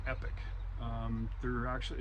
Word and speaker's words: Epoch: here is the charger they call this epic it's spelled epoch and this is a